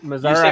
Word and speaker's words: Missouri: missouri is known as the show me state missouri missouri two missouri okay so you're right well i always say misery because every time i've been there it's been